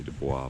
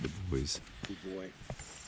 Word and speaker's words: Dubois: somewhere around the boys i would say dubois but i think they pronounce it the boys 43 which will then